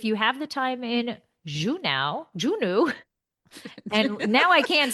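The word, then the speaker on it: Juneau: He's like, "In case you don't know how to pronounce the name of the city, Juno."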